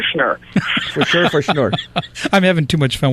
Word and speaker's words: Schnur: Well, we simply say for sure. For sure, for Schnur.